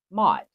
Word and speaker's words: Mot: Under the dark goddess or death, underworld, it is Mot. And I know some people pronounce that different, but that's how I say it.